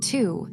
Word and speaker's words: two: Two. Say it with me. Two. T W O two. Listen carefully. The W is silent. We say two, not T W O.